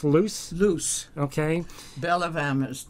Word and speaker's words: Luce: Is that pronounced Luce?